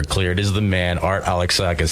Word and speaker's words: Alexakis: good man really good now that you pronounce my name right everybody that doesn't happen very often I'm so happy alexakis Alexus alexakis no yeah alexakis I know this yeah but people people Bucher it but you know what